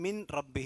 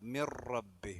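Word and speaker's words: مِنْ رَبِّهِ: നൂനിനെ ഇളഹാർ ചെയ്യാൻ പാടില്ല ബിആയത്തിൻ മിൻ റബ്ബിഹി എന്നല്ല ബിആയത്തിൻ റബ്ബി റബ്ബി മി എന്ന് കഴിഞ്ഞാൽ പിന്നെ റാമക്കാണ് ചാടേണ്ടത് മിറബ്ബി മിൻ റബ്ബി എന്ന് ഓതാൻ പാടില്ല അതുപോലെ അവലം മാഫിഫിൽ ഉല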